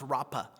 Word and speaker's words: Rapha: and Jehovah Rapha right sometimes pronounced rappa right so either r-a-p-h-a or r-a-p-p-a I've seen both it's used both but it means the